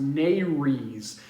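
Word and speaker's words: nares: nostrils or another word for that is the Nerys it looks like it's the way it's spelled it's like Mayor's na re s but it's pronounced Nerys and that's just a fancy name for your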